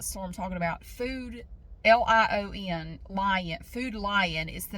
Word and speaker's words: Food Lion: how to pronounce so I call it food line it's not l i n it's lion food line anyway I have